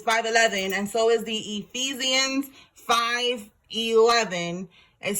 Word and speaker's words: Ephesians: All right, Ephesians.